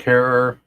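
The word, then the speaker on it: Herer: um like Jack Harer um who had uh who rhymes with terror but didn't terrorize except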